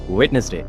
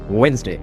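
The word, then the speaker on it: Wednesday: third school কলেজের সবচেয়ে common ভুল ওয়েটনেসডে ওয়েটনেসডের আসল প্রনান্সিয়েশন ওয়েনসডে ওয়েনসডে ফোর্থ আছে যেটা বাঙালিরা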